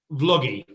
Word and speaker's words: Vloggi: Vloggi. Okay. Like a vlog, like a video vlog.